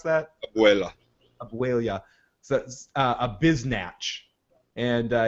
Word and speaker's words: abuela: These two motherfuckers called my grandma, my abuela, what? How do you pronounce that? Abuela.